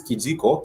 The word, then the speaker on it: kijiko: So it starts with the syllable v in its plural form.